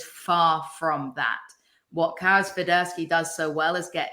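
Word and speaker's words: Świderski: All right, so I've had a lot of questions about from Union fans about Karol Swiderski. Am I pronouncing it right?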